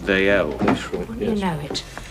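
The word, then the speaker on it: Dalziel: Old Scots name, pronounced Daiel.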